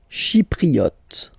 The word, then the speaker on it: Chypriote: Chypriote. Remember this Y is pronounced like I.